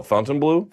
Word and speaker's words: Fontainebleau: By the way, how do you properly pronounce the name of that hotel? Fontainebleau? Fontainebleau, yeah.